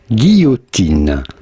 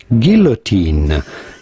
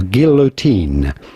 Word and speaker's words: guillotine: In French, it is pronounced guillotin. Guillotin, but in English, it is usually pronounced guillotine. In English, you do pronounce the L. Guillotine.